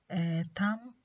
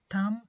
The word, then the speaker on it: thumb: And also B is silent in some words like thumb, lamb and plumber. Thumb, lamb and plumber.